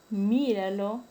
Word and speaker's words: míralo: El término míralo, la sílaba tónica está en la antepenúltima sílaba.